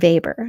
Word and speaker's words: Weber: next we have Max Weber now we have to remember that Max Weber is German so that W is pronounced like a V not aw max paper